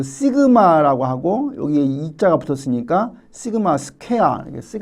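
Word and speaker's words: σ: 그 다음에 모분사는 요 발음을 우리가 이제 그 시그마라고 하고 여기에 이자가 붙었으니까 시그마 스퀘어라고 우리가 표현합니다.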